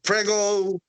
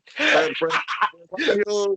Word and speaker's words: Presagio: Some people come into the Prego. Presagio. I say, oh my God, how hard is to say Presagio? It's because the pronounce is way different than Spanish.